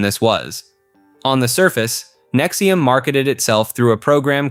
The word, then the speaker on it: NXIVM: NXIVM, pronounced Nexium, was a self-described personal development organization founded in 1998 by Keith Renier and Nancy Salsman in Albany, New York.